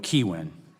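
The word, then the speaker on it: Kihuen: your staff to make sure we had the pronunciation right we were told keywin that's correct okay very good with the first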